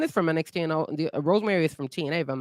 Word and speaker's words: Rosemary: Yes, Rosemary. Rosemary and Wendy Chu. Yeah, so Wendy the two creepy characters from NXT. Well, one is from NXT and the Rosemary is from TNA, if I'm not mistaken.